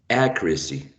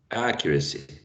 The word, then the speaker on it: accuracy: and the first one the stressed syllable is a trap so you go ah a q accuracy and the the second and the third one are schwas quite lacks uh vowel sense okay accuracy i would